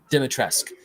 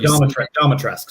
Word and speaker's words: Dimitrescu: Dimitrescu. Wants to use Domitrescu, sorry.